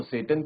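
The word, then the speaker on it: Tsetan: ठीक है, तो सेटन क्या कौन है, जो यहाँ पे बच्चों जो टी है वो साइलेंट रहेगा आप लोगों का, इसलिए मैं इसको प्रोनाउंस कर रहा हूँ सेटन।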